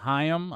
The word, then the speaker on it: Haim: film is alana haim hayam i think is the the uh the proper pronunciation i think a lot of people say yeah because of cory haim but she's of the